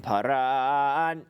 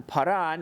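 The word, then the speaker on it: פארן: So for example, paran, where it's under the resh, paran, not paran. Since it's under the resh, you accent on the resh.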